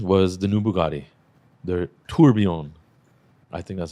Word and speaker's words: Tourbillon: I'm like the only one in my family that doesn't speak French, but I think it's Tourbillon. Yeah, the L is silent for sure, and all that.